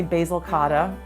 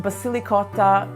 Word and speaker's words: Basilicotta: lot of people say basil cotta it's totally ok it's pronounced Basilicata because it is evocative of ricotta and it's loaded with basil so it's kind of